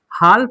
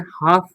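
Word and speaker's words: half: हाल्फ नहीं पढ़ते हैं, हाफ पढ़ते हैं। क्या पढ़ते हैं? हाफ।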